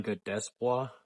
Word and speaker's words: Godesiabois: So Godesiabois, that's how I pronounce it.